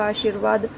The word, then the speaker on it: आशीर्वाद: हम बात कर चुके हैं कि जो र का जो रेफ रूप है, उसका उच्चारण जिस वर्ण के ऊपर वह लगा होता है उससे बिल्कुल पहले होता है।